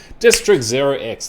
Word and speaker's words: district0x: bit of a deep dive-ish into these guys district 0x that's how you pronounce it market cap is currently 110 million